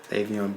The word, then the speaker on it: Le'Veon: I'm me tell you Le Leon Bell that's his name Le'Veon Bell Leon Le'Veon I don't budy say